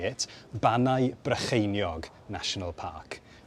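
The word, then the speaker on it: Bannau Brycheiniog: wanted to use the Welsh name, and it's pronounced Ironbridge en Iog. It's not really pronounced like that. Here's how you say it. Banau Brycheiniog National Park. Banau Brycheiniog.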